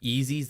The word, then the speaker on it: Yeezy: Do they make Yeezys that big? They do. Am I phonetically saying that right?